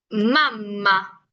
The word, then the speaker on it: mamma: Yo siempre les digo que dividan la palabra. Por ejemplo, ma, mam, ma, mamá. ¿Por qué? Porque nosotros tenemos una acentuación, bueno, un sonido bastante marcado cuando son dobles consonantes, ¿ok? Por eso yo les digo que, dividan la palabra para que suene un poco más fuerte, porque es como una breve pausa que tenemos entre las dos consonantes.